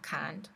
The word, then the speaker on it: can't: apostrophe t นะ คะ ถ้า เป็น อสเตรเลีย กับ อังกฤษ อ่ะ ก็ คือ จะ ออก เสียง ว่า Can't แต่ ว่า ถ้า เป็น อเมริกา ก็ จะ เป็น can't I can't ก็ แล้ว